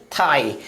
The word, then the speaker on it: thigh: अगला example THIGH, क्या पढ़ेंगे, थाई।